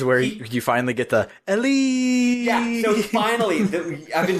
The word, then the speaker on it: Elly: It's the weirdest read, and I'll never forget it because it's canonically spelled ELL tilde Y exclamation point. Yeah, it's like, why would he put the emphasis on that syllable?